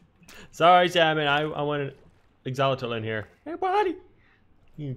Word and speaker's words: axolotl: Or as the British people call it, axolotl. I don't know which is the proper way to say it, but Exolotl sounds way easier to say and it sounds like the proper way, but axolotl sounds strange.